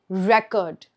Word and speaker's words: record: So, here, what have I stressed on? Record. Record. I stressed on the first part of the word re.